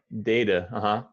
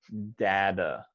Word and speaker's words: data: data good great data so the a is a long a sound it sounds like the letter a data right data but but this is an interesting word because there are actually two uh acceptable pronunciations which one is the second one